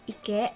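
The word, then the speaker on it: 池: Kungnya adalah ike dan ongyaminya adalah chi. Next, ini struktur kanjinya.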